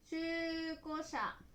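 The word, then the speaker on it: 中古車: Ví dụ về cách sử dụng từ" ko ", là để vẽ từ "中古車" và đọc là "chūko sha".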